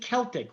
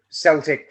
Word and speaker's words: Celtic: because I found out, obviously we've got Celtic football team over in Glasgow. Yeah. It's called that rather than Celtic because that was just how everyone pronounced it about 100 years ago.